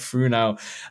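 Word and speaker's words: Fresnel: the funo uh lenses I believe I'm pronouncing that correctly um spelled Fresno but funo lenses which are just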